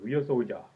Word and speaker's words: Ryusoulger: to review Kishiryu Sentai Ryusoja. Well, actually, it's pronounced, it's written as Kishiryu Sentai Ryusoulger, but I'm gonna say the way it's pronounced.